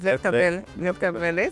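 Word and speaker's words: Lietkabelis: I would like to talk about Lichtabelis. Yeah. My pronunciation is good. Yeah, that's great. Is Lichtabelis.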